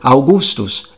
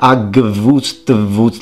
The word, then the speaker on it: Augustus: I mean, look at the word Augustus. It's spelled with V's, but I don't think anyone is expecting you to pronounce it Agvustvus. I mean, good luck doing that.